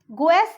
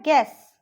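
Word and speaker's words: guess: ठीक है, गुएस नहीं होता है, वो होता है गैस.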